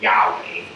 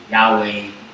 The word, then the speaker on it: Yahweh: Tetragrammaton, which is Yod-Heh-Vav-Heh, or Yahweh is how most people think it's pronounced.